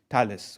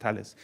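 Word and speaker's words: Thales: in the French company Tales or The I think it's pronounced Talis.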